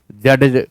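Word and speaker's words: judge: तो ये रूल है याद करें स्पेलिंग रूल के अंतर्गत डी और जी एक साथ आते हैं तो प्रोनंसिएशन में डी साइलेंट हो जाता है।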